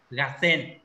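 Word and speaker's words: 合戦: Nào, mọi người có biết từ gạt sen này nghĩa là gì không? Không đọc là gô sen nhé, gạt sen.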